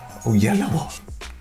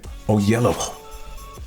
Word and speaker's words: Oyelowo: starring David O Yello o yell okay o yellow is how he said his dad wants people to pronounce the name but everybody else just says o yell he is an executive